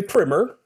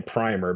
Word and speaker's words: primer: debate about everything uh I say primer because uh I pretend to be an Oxford Dawn apparently uh but uh more American English readers might say primer but uh primer in literary terms is actually when we're talking about a book an introduction to a subject in literature primer is more proper uh but primer works